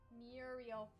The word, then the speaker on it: Muriel: with leather for some reason I have trouble pronouncing Muriel's name Muriel I did not make it easy on you